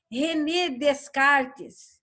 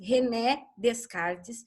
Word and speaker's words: René Descartes: René Descartes não existe, porque ninguém está descartando nada por aqui. Se escreve René Descartes, mas o nome é francês.